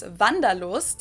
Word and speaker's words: Wanderlust: kind of an old-fashioned German word that we pronounce Vandal and it's literally the